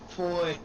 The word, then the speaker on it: Foy: Foy. Rhymes with boy? Coy? Foy. Troy.